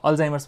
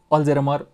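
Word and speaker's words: Alzheimer's: र मान्छेहरू अहिले पनि यसलाई उच्चारण गर्दा अल्जाइमर्स भन्न नजानेर अल्जेरमर भन्ने पनि अवस्था छ।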